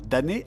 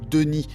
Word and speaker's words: D'ni: Atrus est donc un damné qui parle damné à damné. Je prononce ce mot damné car j'en ai pris l'habitude, mais en fait c'est plus Denis, et d'une façon générale je vais mal prononcer